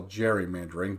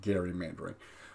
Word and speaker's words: gerrymandering: then called it gerrymandering, which today we call gerrymandering, but really should be pronounced gerrymandering.